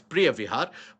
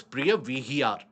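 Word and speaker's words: Preah Vihear: or pronounced it as Priya Vihar. But then we choose the local pronunciation here. It is Priya Vihar.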